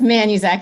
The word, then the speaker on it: Manuzak: It's Manuzak, yeah. It's Manuzak, sorry. Exactly the way that it's spelled.